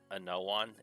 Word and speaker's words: Anowon: It's Anowon, Anowon.